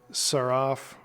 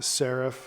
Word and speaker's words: seraph: headdress in Egyptian thought the saraf the Seraph again depending on your pronunciation is going to be